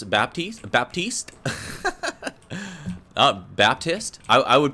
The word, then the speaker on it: Baptiste: can you pronounce Baptiste Baptiste uh Baptist I I would probably I would say it was like Baptist but I guess if you got an ax French hat it'd be like Baptiste I think okay and